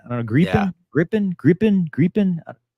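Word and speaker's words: Gripen: I don't know why people get mad of the way we say grippin say it right that is that is the way I I went back and watched the interview I had with the soab guys and that's what they said I don't know griping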